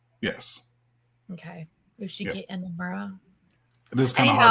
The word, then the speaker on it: Inamura: Is this Inamura? Yes. Okay. Yoshiki Inamura.